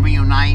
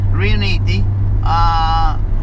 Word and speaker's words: Riunite: I said, well, let's even though people can't pronounce it because everybody's saying Reunite and stuff like that. Yeah. Riuniti, that's the brand that I chose as the brand.